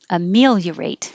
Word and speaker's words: ameliorate: And the dictionary did have two versions. You can say ameliorate or amelia. Amelia. You can put an extra E in there if you want to. But the first one is the more common, the one that's listed in the dictionary, and that was this one, the shorter one.